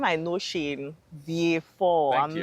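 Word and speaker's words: Vieux Fort: I know you say V4 all the time. I always wondered about that. Yes. V4. People have anglicized the name a lot. Um and they spell it as it looks. View Fort, right?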